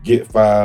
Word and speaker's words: Gitt Fai: A lot of people say GittFai or GittFai. Nah, Gitt Fai. Gitt Fai. Like, it rhymes. Gitt Fai on the way. My tag rhymes. How did you come about your name?